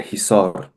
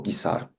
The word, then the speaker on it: Hisar: In the north, the Zarafshan mountain range, and in the south, the Hisar or Gisar in the Russified pronunciation mountain range.